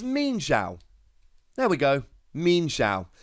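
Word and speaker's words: Mienshao: we're here I've gone and looked up the pronunciation it's mean shout there we go mean Shou you learn something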